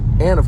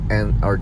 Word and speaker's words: Ando: actually talking about uh and or too Ando and I believe that's how you pronounce it too endo and he's Japanese he's